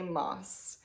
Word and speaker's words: Maas: Maas. I think you actually say her name like Moss, so I will say it that way from now on.